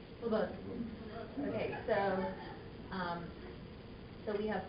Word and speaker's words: Slobodan: I know it's not Slobodan, though. He says the accent on the E. Slobodan.